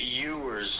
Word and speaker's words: Ewers: making sure that Ewers is it Ewers or Ewers? Because I heard someone say... You pronounce it Ewers.